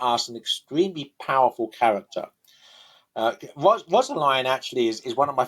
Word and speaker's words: Rosaline: He pronounced it Rosaline because of the way that he uses rhyme in the play.